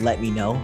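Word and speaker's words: LEMMiNO: definitely let me know i spelled kind of weird but you pronounce it like let me know but let me know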